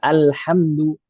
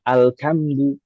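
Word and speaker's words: الحمد: Yaumidzin kud alhamdu alhamdu. Ah, itu dibaca dengan kaf misalkan alkamdu atau misalkan dengan ha alhamdu walin harusnya pakai d lalu dibaca pakai d waladin mustaqim dibacanya mustaimah.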